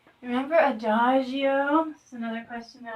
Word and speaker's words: adagio: Remember adagio? This is another question that I asked what it means. It'll help if I say it like this, like adagio.